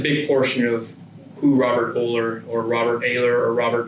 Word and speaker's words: Oehler: Robert Oehler. Some pronounce it Oehler, some pronounce it Oehler, some pronounce it Oehler. It really depends. What I tell friends and family, I prefer Oehler, but if you call me Oehler, just don't